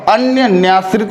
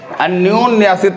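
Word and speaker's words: अन्योन्याश्रित: अब आगे चलिए, ये क्या लिखा, अन्य न्याश्रित लिखा, अन्य न्याश्रित लिखा हुआ ना, तो क्या होता है, अन्योन न्याश्रित होता है। ठीक है, ये ओ की मात्रा लग जाती है ओ या पे।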